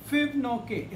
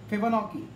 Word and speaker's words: Fibonacci: वो ये सीक्वेंस है फिबोनाकी प्रोनाउंसिएशन थोड़ा देख लें आप, फिबोनाची, FIBONACCI, फिबोनाची सीक्वेंस।